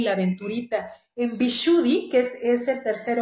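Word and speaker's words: Vishuddha: y la aventurita en bishudy que es Es el tercer ojo visuri se escribe pero es vichuda sería lapislázuli cuarzo azul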